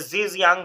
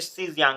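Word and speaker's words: Xizang: हम सीजियांग कहते हैं, ये जीजियांग हम लिखा रहता है लेकिन इसको पढ़ते सीजियांग है अक्सर। तो सी ठीक है जांग, तो सी यांग या ऐसे करके प्रोनाउंस करते हैं, तो ये हमारा एक्चुअल में हम तिब्बत कहते हैं।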